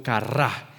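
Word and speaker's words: קרה: que sí sabe, y la palabra se pronuncia como kará, y una de sus definiciones es un evento que estaba destinado a acontecer.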